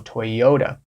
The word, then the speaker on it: Toyota: and hello to stellantis a couple of Asian car companies that are very famous that you might not be pronouncing correctly Toyota Toyota toota right that intonation is on that o Toyota Toyota continuing on the